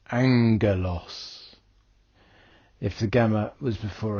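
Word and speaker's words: ἄγγελος: the pair go together the first gamma is pronounced with a n Sound n sound so for example two gamas would give n like in the English word sing or in the Greek word Angelos if the gamma was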